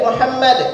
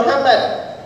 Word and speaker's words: Muhammad: Shi ala Muhammad ya jadi bacanya itu Muhammad jangan bilang Muhammad kebanyakan baca allahum shalli